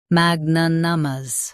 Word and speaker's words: magnanimous: Magnanimous. Both US and UK have the same pronunciation of this word. Stress mag. Keep na soft and clear.